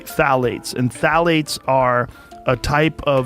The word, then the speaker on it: phthalates: And when the introduction of phthalates, it starts with a P, P-T-H-A-L-A-T-E-S, I think it's how you spell it. You say phthalates, and phthalates are a